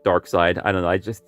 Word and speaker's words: Darkseid: people pronounce his name they usually call him darkseid a lot of people actually call him dark seed i like to stick with dark side i don't know i